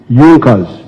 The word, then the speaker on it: Junkers: However, there was a strong business group in Prussia known as Yonkers. It is written junkers but they pronounced pronounce it junkers that saw the importance of a united German market.